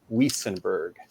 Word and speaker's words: Wuestenberg: the V pronunciation, because back in the homeland, Germany, where I'm from, I'm pretty sure that it would be, the Wiesenberg, but actually the T is silent, so it's pronounced Wiesenberg.